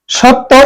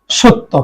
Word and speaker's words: সত্য: করেন জ ফালা এই জফলার কারণে এই অদ্য সত্য এই জফলার কারণে এই স আমরা উচ্চারণ সবসময় তালব্য স উচ্চারণ করি সত্য খেয়াল করো সত্য এখন বলতে পারো যে দুইটা